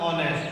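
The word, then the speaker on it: honest: तो इसमें इसको बोलते हैं जब आता है ऑनेस्ट, यानी कि ओ की ध्वनि आती है, ओ। और ओ क्या है? एक स्वर है, इसमें भी एच साइलेंट है।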